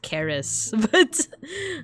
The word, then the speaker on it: Ceres: her Roman name is Ceres. Actually, it's pronounced Charis, but in like, at least in American English, I don't know about British and Australian and New Zealand English, but I've heard Ceres, Charis.